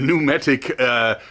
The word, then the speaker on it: pneumatic: The Cressy Sub SL Star pneumatic, was it pneumatic? I think the P is silent, sorry for that. The pneumatic spear gun.